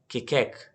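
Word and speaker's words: Keccak: इसको इस तरह ना प्रोनाउंस करते हैं KATCHAK, इसको इस तरीके से प्रोनाउंस करते हैं केकैक।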